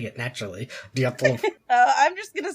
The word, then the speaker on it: Dyatlov: Dyatlov. You just gotta slur it. Dyatlov. Dyatlov. It'll sound like we went back in and dubbed it in, but it'll actually us be saying it naturally. Dyatlov.